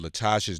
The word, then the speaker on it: LaTosha: fund dot o-r-g right Latasha Esther that's the right way to say it right that's it black voters empty are